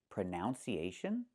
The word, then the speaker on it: pronunciation: The word is pronounced pronunciation. We see the letter U there between the N's, right? That's a short uh sound like cup and up. Pronun, pronun. So, the two first vowels are the same sound.